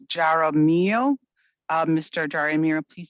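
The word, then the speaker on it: Jaramillo: i assume it's jarrah mio uh mr ajarimira please spell your full name after uh you begin to speak hi good afternoon good evening it's um j-a-r-a-m-i-l-o-s pronounced good evening um board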